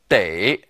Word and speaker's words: 得: Here it serves a different purpose, and it's pronounced differently. 得, to require.